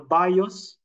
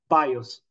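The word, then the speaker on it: βίος: The bios, and the soke or psyche, and then the zoe, or today we pronounce it zoe.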